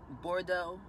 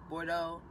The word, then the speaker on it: Bordeaux: the color is number nine and it is pronounced Bordeaux board a Bordeaux Bo AR de a UX it's the name